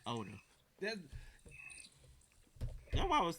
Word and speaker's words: Oda: Ida? That's not how you say his name. That's it. Well, that's what you have on there. Ida. Oh, you was like Oda.